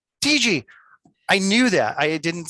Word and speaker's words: Tietge: Is it Tietge? Am I pronouncing that correct? Tietge. Tietge.